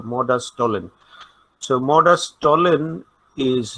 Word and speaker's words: modus tollens: Okay, last S is not pronounced, so modus tollens.